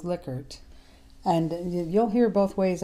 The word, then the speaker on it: Likert: hear people call these likert items his name pronounced correctly is lickert and you'll hear both